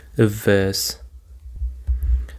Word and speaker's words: averse: Averse. And the stress actually is on the second syllable, averse.